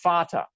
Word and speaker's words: Vater: In German, it's spelled with a V, but it's pronounced the same letter is still that F sound, Vater.